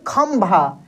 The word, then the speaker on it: खंभा: देखिए खंभा, खंभा, म का उच्चारण हो रहा है।